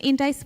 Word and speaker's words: Endace: He founded Endace, and is that the correct pronunciation, Endace?